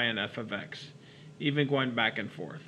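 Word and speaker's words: f(x): that means multiplication but that's not what this means here we're not multiplying f of X first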